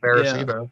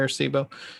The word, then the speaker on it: Arecibo: I think that's how it's pronounced, Arecibo. Yeah, Arecibo.